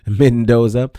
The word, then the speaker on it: Mendoza: Let me say it correctly because I don't want anybody messing up my name either. Mendoza.